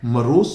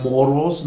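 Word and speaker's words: morose: चिड़चिड़ा बन गया है मारस बन गया है spelling M ओ आर ओ एस सी है पर प्रनंसीएशन मोरोसे नहीं है मारस नेक्स्ट सेंटेंस है वही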